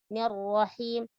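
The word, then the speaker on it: الرحيم: Ar-Rahim. Him, tidak ar-Rahim. Tidak ke he, tapi him.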